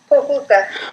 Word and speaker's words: Pokljuka: Pokljuka. Pokljuka, okay.